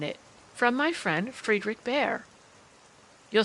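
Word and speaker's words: Bhaer: it to me now don't laugh at his horrid name it isn't pronounced either bear or beer as people will say it but something between the two as only Germans can give it I'm glad you both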